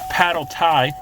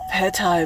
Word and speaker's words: pad thai: eat one of these this is a paddle tie pad thai baby that's what i said paddle tie unless you always mispronounce everything yeah okay yeah there's some